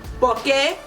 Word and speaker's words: por que: So that's how you can use porque, which is separate por and que, but it's still pronounced porque like the other 2 porques.